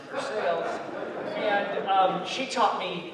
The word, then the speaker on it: Versailles: was in versailles ohio it spelled like versailles but you know how i would pronounce it for sales and um she taught